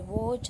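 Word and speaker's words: watch: फिर वॉच, तो उसमें टी साइलेंट है।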